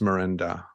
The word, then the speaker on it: Merenda: um and and joining me today is Dennis Miranda I hope I'm pronouncing that okay perfect yeah so Dennis is